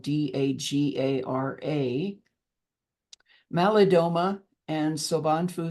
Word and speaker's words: Dagara: my teachers um from the dager tribe of West Africa that's spelled d a g a r a malidoma and soan Fu